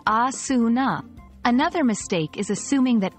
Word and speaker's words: asana: It's pronounced as asuna.